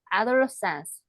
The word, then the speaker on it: adolescence: 그다음에 adolescence. adolescence, adolescence, 에 발음입니다. 애플 할 때처럼 에 발음이에요.